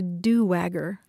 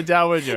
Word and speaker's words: dowager: Ann Peter wrote from Wisconsin to say that someone she knows kept talking about a do-wagger. Oh, instead of a dowager.